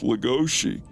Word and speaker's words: Legoshi: Yes, but Apparently, his name was actually supposed to be pronounced Legoshi.